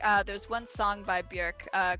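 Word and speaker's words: Björk: her name she's like my name is not bjork it's bjerk it rhymes with jerk got it nice but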